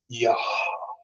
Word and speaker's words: Yah: Es por eso cuando mencionamos o cuando pronunciamos el nombre Yud-Hei, es Yah.